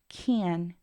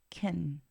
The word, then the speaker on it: can: en el hablar diario can is usually unstressed and pronounced Ken en el hablar diario